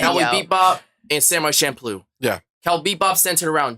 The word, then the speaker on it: Champloo: That's how you pronounce it. Champloo.